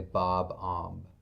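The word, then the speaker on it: Bob-omb: you're saying it wrong I think you're supposed to say Bob om cuz I saw Scott Pilgrim and their band was called The Sex B bombs I think we should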